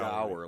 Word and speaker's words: dour: dour, like tower.